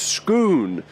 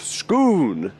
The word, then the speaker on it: Scone: bear in mind that scone is pronounced schoon vis-a-vis the stone of schoon right I quite like